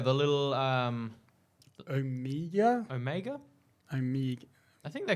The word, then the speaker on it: Omega: But yeah, Omega is how she pronounces it. Okay. Not Omega. The Kiwi accent.